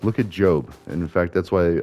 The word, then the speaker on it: Job: And so the backstory with Job is so there was this guy, Job, which is funny because it's spelled job, and I almost wonder if there isn't like some kind of link there.